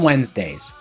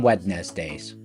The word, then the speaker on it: Wednesdays: Not on Wedness Days. Cuz that's how it's spelled, Wedness Day. But that's not how it's pronounced.